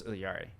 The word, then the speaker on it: Yari: first released particularly on how to pronounce Yari um and that it is still three syllables but I can't roll my L's like in the intro the uh the voice actor rolls her L's and that's why it sounds